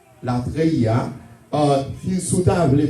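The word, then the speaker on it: latreia: Pour aujourd'hui, que nous pourrons utiliser l'anza et mot ça, que nous pourrons développer pour nous-mêmes, là, qui est la treia. La treia. Si vous voulez prononcer, ma appelé pour vous-même, c'est L-A-T-R-E-I-A.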